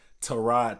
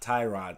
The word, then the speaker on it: Tyrod: episode, pronounce his name Tyrod Taylor, not Tyrod Taylor, like everybody says. And come to find out, Tyrod Taylor's real name is Tyrod. It's not Tyrod, even though I call him T-Mobile.